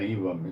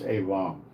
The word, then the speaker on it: Elam: HaNavi, against Elam, and let's get the pronunciation straight on that. Elam. It's not Elam, it's Elam. Like an AY word, like Elam.